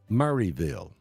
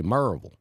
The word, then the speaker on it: Murrayville: not Rowan Oak well you don't say murville you say merville Marvel Georgia you know